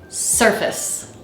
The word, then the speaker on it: surface: the word its Rhythm the word should sound like daa surface surface if we pronounce this word surface then the two syllables sort of sound equally strong surface surface du du du du and we want this word to sound like d d so we need to reduce that face to F so that